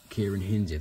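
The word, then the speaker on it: Ciarán Hinds: Kieran Hinze, that's how you say it.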